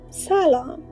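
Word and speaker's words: سلام: meet people we say salom which means hello it has two syllables s and the letters are s a l a m salom people who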